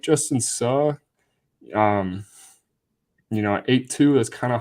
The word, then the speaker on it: Suh: I'm so used to saying Sue, like the former Nebraska player, Ndamukong Suh, but Justin Suh, I believe, is his pronunciation.